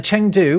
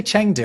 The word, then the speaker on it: Chengdu: I say Chengdu, I think it's pronounced Chengdu. When you see eng in Mandarin, it's actually an ung sound.